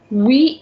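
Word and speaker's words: oui: is no no but we will be pronouncing exactly like we pronounce in english no remains no but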